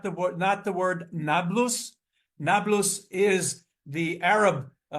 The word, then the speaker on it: Nablus: of Shechem to Neapolis, which the Arabs, without the ability to pronounce P, call it Nablus.